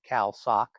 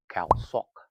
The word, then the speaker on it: Khao Sok: By the way, if you pronounce it Khao Sok, nobody will know where you're talking about. You have to say Khao Sok. Super important in the Thai language to put the accent on the right syllable.